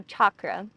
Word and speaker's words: chakra: chakra but the real the correct term is chakra like if you would say church so chakra which i'm still trying